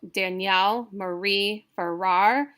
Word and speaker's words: Danielle Marie Farrar: So Danielle Marie Farrar, it's all iambic. It's unstressed, stress, unstressed, stressed, unstressed, stressed.